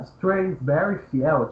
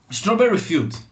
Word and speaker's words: Strawberry Field: Chama Strasberry Field. Não sei se eu falei também a pronúncia certa. Eu queria saber o que é exatamente. Uma curiosidade aqui que eu. Strawberry Field.